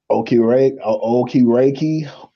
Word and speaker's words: Okereke: And people slept on the one deal that the Giants did too, to Bobby Okereke. That's how you pronounce it.